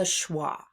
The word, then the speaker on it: schwa: This sound is called the schwah. Can you say that? So the schwa sound sounds like this uh it's kind of like a short u sound but not quite.